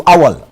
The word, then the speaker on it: Awal: That's how that's the pronunciation. Awal.